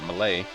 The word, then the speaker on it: melee: to the malay command i've always called it melee but i think malay says it's french right is the correct pronunciation because you know that's so important on the internet but i care i care so malay it is say you have troops such as